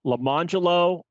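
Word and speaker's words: Lemonjello: There were two twins, and their names were Lamangelo and Larangelo, and it was spelled orange jello and lemon jello.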